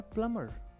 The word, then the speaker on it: plumber: left पद रहा है पी एल यू एम बी ए आर यहां पर भी 20 साइलेंट है इसको मैं पढ़ना है प्लंबर प्लंबर लेकिन आप पढ़ते